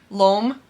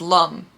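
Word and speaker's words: L'Homme: say your GEOS or LOM which I recently Learned was Lum instead of LOM which I've always said it's Lum so I've been saying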